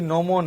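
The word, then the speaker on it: gnomon: जी नोमोन है, तो जी साइलेंट हो जाएगा, नोमोन हो जाएगा।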